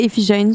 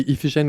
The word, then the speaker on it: Iphigène: C'est Iphigène, son nom. Techniquement, la prononciation exacte est contestée. Selon les sources, c'est Iphigène ou Iphigénie.